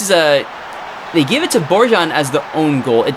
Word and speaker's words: Borjan: Apparently I've been pronouncing it wrong for the last 40 episodes. So it's Milan Borjan.